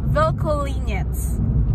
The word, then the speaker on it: Vlkolinec: video about Chichmani, and the village is called Vilkolinec.